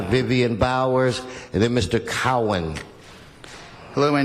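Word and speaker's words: Cowen: You didn't pronounce his name, or? Ms. Cowan, right, Vivian? Cowan. Cowan? Cowan. C-O-W-E-N? Yes, Cowan.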